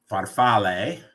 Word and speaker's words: farfalle: a is pronounced ah the English e is pronounced a heart a so like farfalle uh Ellie at the end it's butterflies is